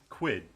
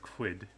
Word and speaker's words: Qud: __ ] caves of I want to say quid because I've always wanted to call the game quid but some people have pronounced it as cud and that just I don't know cuz then I think of cows and like chewing the cud and I'm just like